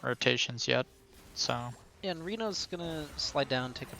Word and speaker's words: Renault: Do you like Reno Turbo or Renault Turbo? I think it's definitely Reno Turbo.